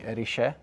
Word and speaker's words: Erice: If there's any Sicilians watching, we do suspect that the correct pronunciation might be Erice. Please let us know if that's the case.